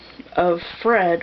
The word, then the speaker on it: Offred: the main character's name, I had pronounced it Offred, And as I was reading and they were saying the names, or, you know, mentioning the names of the other women, I realized that's probably not how you pronounce it, because some of the other women were named of Warren, of Glenn, of Charles. So her name is of Fred, which is obviously a possessive.